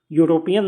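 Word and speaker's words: European: जैसे एग्जांपल के लिए यूरोपियन, यूरोपियन में ई की जगह यू का प्रोनाउंस होता है ना, तो यू एक कॉन्सोनेंट है, इसलिए ए का यूज होगा।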